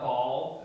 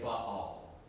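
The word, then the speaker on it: Baal: It's actually um separated by a Hebrew letter that you don't pronounce, but it separates the two syllables. So it's more correct to say but all instead of ball.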